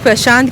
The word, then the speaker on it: प्रशांत: It adds वैसे more या essence to right मैं ऐसे कोई कोशिश कर रही हूँ प्रशांत की जगह प्रशांत बोलने के लिए, बिकॉज यहाँ का सही प्रोनाउंसिएशन वही होता है।